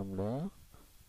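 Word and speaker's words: lambda: atau sudut difraksi dengan lamda ini bacanya lamda panjang gelombang cahaya ya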